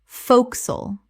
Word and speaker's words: forecastle: focsle Two syllables only. One of the most dramatic reductions in English.